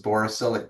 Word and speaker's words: borosilicate: borosilicate, did I say it right?